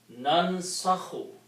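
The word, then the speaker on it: ننسخ: So put the sukoon on the first letter here, just like on the fa, and then fataha and a dhamma kha. So this will be pronounced as nansakhu.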